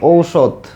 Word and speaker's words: ঔষধ: হইছে হ্যাঁ ঠিক আছে ঔষধ ঔষধ হ্যাঁ এইখানে হচ্ছে দেখো এখানে ওকার দিলেও চলবে ওকার না দিলেও চলবে কেউ উচ্চারণে এখানে ওকার দিবে ওকার দিলেও ভুল হবে না ওকার না দিলেও এখানে